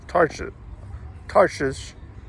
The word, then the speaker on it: Tarshish: For the king had at sea a navy of Tarshish, that I think the first H is silent, Tarshish with the navy of Hiram.